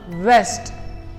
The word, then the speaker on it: vest: इस वर्ड का जो करेक्ट प्रोनाउंसिएशन होगा वो होगा वेस्ट, वेस्ट।